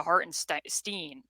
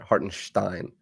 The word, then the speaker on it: Hartenstein: Like you're supposed to put the SH there. Hartenstein. But I keep pronouncing it like Berenstain Bears, and it's not correct.